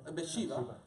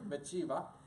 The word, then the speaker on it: Bathsheba: Is that how you pronounce it? Bathsheba. Sorry, Bathsheba.